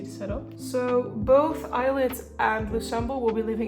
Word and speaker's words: ILLIT: going to be pronounced ellit because that made more sense to me because of like the Double L but they pronounce it like eyelid which is a little bit like weird to me like I need to